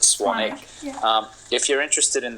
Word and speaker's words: Swanwick: name is actually spelled Swan Wick but it's pronounced swanic um if you're interested in the blue light